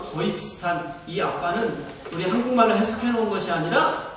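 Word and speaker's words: אבא: 우리 발음하고 거의 비슷한이 아빠는 우리 한국말로 해석해놓은 것이 아니라 원래 발음이 아빠 히브리 사람들이 아버지를 하게를 때 쓰던 그런니다 이렇게 예수님께서 하나님을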